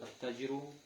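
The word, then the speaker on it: التاجر: Тут аль-аль получается не читаем. Просто удваиваем саму букву. Удваиваем. Первую букву. Ат-таджиру.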